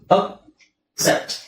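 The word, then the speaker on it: accept: ಅಲ್ಲಿ ತುಂಬಾ ಕನ್ಫ್ಯೂಸ್ ಆಗಬಹುದು ಯಾಕೆ ಅಂತ ಹೇಳಿದ್ರೆ ಇಲ್ಲಿ ಏನಿದೆ ಎ ಸಿ ಇಲ್ಲೂ ಅದೇ ಇದೆ ಅದೇ ಅಕ್ಷರ ಇದೆ ಬಟ್ ಪ್ರೊನೌನ್ಸಿಯೇಷನ್ ಅದೇ ಅಕ್ಷರಗಳು ಬಟ್ ಪ್ರೊನೌನ್ಸಿಯೇಷನ್ ಚೇಂಜ್ ಇರುತ್ತೆ ಆಕ್ಸೆಸ್ ಇಲ್ಲಿ ಆಕ್ಸೆಸ್ ಇಲ್ಲಿ ಅಕ್ಸೆಪ್ಟ್ ಅಕ್ಸೆಪ್ಟ್ ಆಕ್ಸೆಸ್ ಸೋ ಆ ಅದು ಹೇಗೆ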